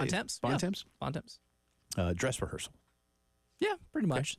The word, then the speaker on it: Bontemps: Bontemps.